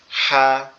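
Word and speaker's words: ح: হা মনে করবো না এটার নামই হচ্ছে কি হা আর এটার আওয়াজটা একটু ফ্যাসফ্যাসা মতো হবে গলার এখানে চাপ হবে একটু চেপে পড়তে হবে হা এভাবে এর পরেরটা হচ্ছে খ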